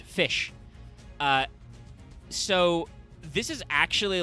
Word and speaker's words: Ghoti: at the top says goti uh and I say it's pronounced fish uh so this is